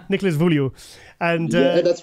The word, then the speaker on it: Nicolas Vullioud: Nicolas V, because I couldn't pronounce his name. Nicolas Vullioud.